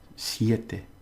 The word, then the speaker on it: siete: Two syllables. Siete. Okay?